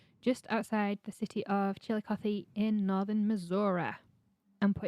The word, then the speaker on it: Chillicothe: instead of an i so it's chiller coffee chillicothe which like to be fair not everyone pronounces the last eye in missouri as an